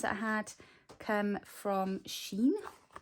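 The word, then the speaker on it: Shein: i had come from sheen somebody said to me yesterday it was the correct way to say it so these lush washi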